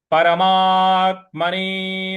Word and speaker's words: परमात्मने: परमात परमा के बाद जो आधा त है इस पर हमको आघात देना है। परमात्मने नमः।